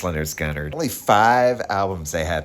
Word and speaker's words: Lynyrd Skynyrd: pronounced Leonard Gunnar.